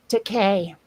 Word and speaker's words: Takei: How do you pronounce, is it George Takei or George Takai? Takei. Decay.